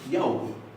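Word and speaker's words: já: Significa sí, pero en islandés es jau. Jau. La A con acento se pronuncia au. Es un diptongo.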